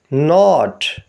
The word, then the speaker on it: knot: پڑھیں گے wrench, wrench. اگلے لفظ کے اسپیلنگ ہیں KNOT۔ اس میں K سائلنٹ ہے، باقی 3 لیٹرز کو ملا کر پڑھیں گے ناٹ، ناٹ یعنی گرا۔ اگلے